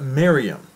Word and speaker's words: Miriam: And the virgin's name was not Maria, not Mary, but Miriam. Those of you who are familiar with Middle Eastern language, you know that that is correct.